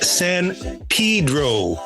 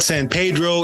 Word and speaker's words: San Pedro: it's not San Pedro it's not San Pedro but San Pedro can you talk a little bit about that tell us about that uh that particular pronunciation uh it's just what the locals do this is a port